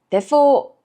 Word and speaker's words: Depot: 그래서 우리가 로테르담에 있는 데포 미술관에 다녀왔어요. 이게 영어로는 데폿이라고 읽어야 될 것 같은데 네덜란드어로는 데포라고 읽는다고 합니다.